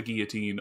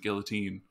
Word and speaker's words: guillotine: But okay, so this track is called Drop the Guillotine, or if you want to pronounce it guillotine, like apparently the singer does. Yeah, it's either one.